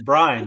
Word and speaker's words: Brian: No, it's Brian, like Brine, Brian.